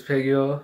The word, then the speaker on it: Phenyo: It's Phenyo, mispronounced as Feneyo, and welcome back to my YouTube channel.